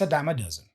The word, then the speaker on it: a dime a dozen: It's a dime a dozen. You see it everywhere. Okay, what is the second step? Learn the pronunciation.